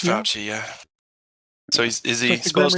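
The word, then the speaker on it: Fauci: do you say in how do you say in Italian um CLE isn't it fouchy it's fouchy yeah so is he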